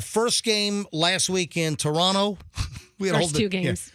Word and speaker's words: Toronto: I got yelled at by a Canadian that I was saying Toronto. And you don't pronounce the T in Toronto, the ending T. It's Toronto, Toronto.